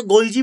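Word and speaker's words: Golgi: ওটা অনেকে গোলজি বলে, বই গোলজি লেখা থাকতে পারে, ঠিক আছে? কিন্তু ইংরেজিতে বানানটা দুটো সেম। আমি গোলগি বস্তু বলছি, তোরা একটু আন্ডারস্ট্যান্ড কর।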